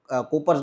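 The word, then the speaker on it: Cowper: जाओगे आप तब उनको कूपर्स ग्लैंड भी बोलते हैं कूपर या तो काऊपर से वो प्रोनाउंसिएशन करते हैं लेकिन इससे आगे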